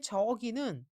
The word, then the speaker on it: 저기: 책이 있다는 뜻입니다 이번에 저기는 제가 지금 발음을 어떻게 했죠 저 라고 했죠 좀 저를 길게 말합니다 저 라는 말은 멀다